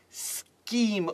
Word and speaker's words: scheme: and use it on the CH in scheme then right okay above the CH because this is that Sheen its scheme with a K mmm I thought that's